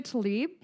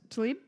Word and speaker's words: Tlaib: Rashida Tlaib. Yes. Oh, shit. Did I say it right? Yes. Tlaib?